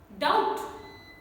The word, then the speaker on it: doubt: In BT combination words also, B is silent and only T sound is pronounced. Death, not debt. How unnatural would it sound? Debt. So, debt. Doubt.